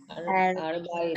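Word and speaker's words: ארבעים: It is silent. Silent. Silent. Because it is following pathak. Arbaim. Arbaim. Arba'in.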